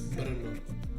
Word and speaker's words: Brno: I said Brno, but it's not Brno, it's Brno. You really need to pronounce the letter R. Not too much as in Spanish, R, but Brno.